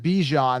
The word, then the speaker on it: Bijan: It's actually, he pronounced it Bijan. That's how you pronounce it. But I just go with how it's spelled, Bijan.